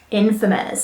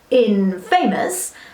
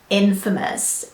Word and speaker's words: infamous: at word number seven today that word is infamous so I know it's quite natural to want to take two words that we know like in and famous and smoosh them together to make in famous but unfortunately that's not how English works the